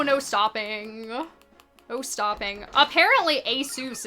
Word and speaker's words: Asus: Stopping no stopping apparently Asus is how you're canonically supposed to canonically canonically supposed to pronounce that but um literally everyone says Asus what is this yeah